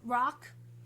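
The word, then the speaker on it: Vrock: say it correctly Damon it comes from rock rock V Rock v-r-o-c-k it's like it's a yeah it's like what it's like Brock from Pokemon but with a V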